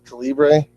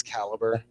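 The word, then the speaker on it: Calibre: caliber which you'll hear a lot of people pronounce calibra which they can you don't have to correct them but it's caliber uh who knows has you played with okay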